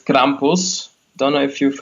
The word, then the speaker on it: Krampus: krampus is that how you say it krampus krampus yeah okay what an ugly dude feeding on